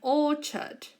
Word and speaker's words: orchard: place it's called an orchard again all church we don't pronounce the ARS okay it's all charged orchard again Oh church